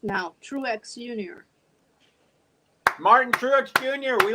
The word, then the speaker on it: Truex: so quickly whoa Brooks how you pronounce that trucks trucks oh Truex uh Martin Truex Jr Truex two syllables Truex okay what did